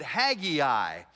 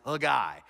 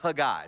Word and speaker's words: Haggai: grow up in church pronounce it Hagee I and I did too until a hebrew scholar said no that's completely wrong it's a guy it's a guy so i'm gonna try